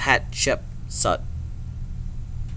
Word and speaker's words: Hatshepsut: If you look at her name and you split it up into parts, you can actually see how to pronounce her name. So her name is Hatshepsut, basically.